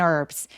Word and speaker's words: herb: Then meat and herbs. 자, 그 다음에 고기도 가져왔어요. Then meat and herbs. 여러분 허브 있죠? 허브를 어떻게 방금 제가 발음했죠? H 없이 herb라고 발음합니다. 그래서 요거는 묵음이에요.